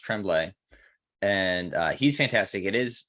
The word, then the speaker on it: Tremblay: And that book I finished was The Cabin at the End of the World by Paul, I think it's pronounced Tremblay, and he's fantastic.